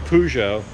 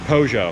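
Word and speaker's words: Peugeot: rent one an old pujo same thing we didn't have many or is it pojo i think we call it pujo but i've heard the british say pojo see how next door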